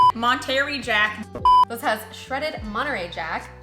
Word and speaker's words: Monterey Jack: It has shredded Monterey Jack. That's not how you say it. Monterey Jack.